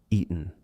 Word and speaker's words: eaten: We are going to say eaten. Now listen, if I do not use the glottal stop, if I do not say any kind of T pronunciation, G-N, that does not work. It is eaten.